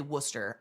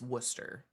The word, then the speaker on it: Worcester: Also, I've heard people say Worcester. I just cannot accept that that word is Worcester. Unless you're from Wales. A Welsh person can say Worcester sauce. That's it. No one else drops that much in the middle.